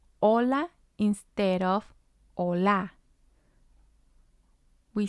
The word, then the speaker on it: hola: we have the word hola hola it means hello and it has two syllables la is the first syllable o is the second syllable remember that the h in spanish is silent we have messes and